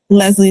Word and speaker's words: Lesley: computer so yeah yeah okay right is the pronunciation correct Leslie is correct yes Leslie is a common name